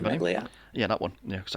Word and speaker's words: Ventimiglia: How do you pronounce his How do you pronounce his name? Ventimiglia.